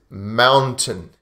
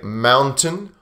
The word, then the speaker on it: mountain: So the word is mountain. You can say mountain or mountain.